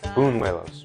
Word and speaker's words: Buñuelos: It's Buñuelos.